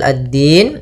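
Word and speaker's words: الدين: yaumiddin yaumidin kemudian padafal addin di sini ada hukum tajwid berupa Alif lama maaf alif lam syamsiyah alif lam syamsiah yaitu alif lam yang ditulis tapi tidak dibaca langsung ke huruf Dal kemudian maiki yaumiddin addin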